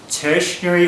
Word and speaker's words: ternary: Some people say tertiary or ternary operator. I'm just going to say ternary operator.